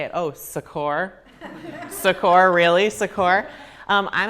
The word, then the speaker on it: Secor: name is originally pronounced Secor but I took creative Liberty with my last name when I got the nickname and changed it to Sor on my own which to my parents